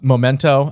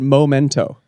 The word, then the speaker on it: Memento: ever ever since um Memento I always loved that movie growing up I always thought it was you know like the if you love it so much why do you pronounce pronounce it momento because I am illiterate